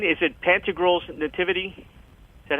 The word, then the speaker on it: Pantagruel's: Am I saying, is it Pantagruel's Nativity? Is that how you say it? Yep, Pantagruel's.